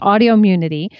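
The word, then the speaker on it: Audioimmunity: here quick pronunciation guide it's audio immunity i think i said it wrong so audio immunity same number of syllables as autoimmunity i wanted to respond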